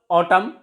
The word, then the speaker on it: autumn: Words ending in N and preceded with M, N is silent. For example, autumn.